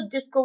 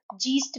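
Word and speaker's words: Geist: riches the ultimate truth जिसको वह जीस्ट भी कहते हैं ो किस किस भी तरीके से आप प्रोनाउंस कर सकते हैं जैसे आप करना चाहे तो उसको जीस भी कहते हैं तो यह जो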